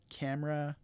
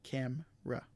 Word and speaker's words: camera: ojibwe so in the examples for english include camera chocolate aspirin restaurant so in these uh examples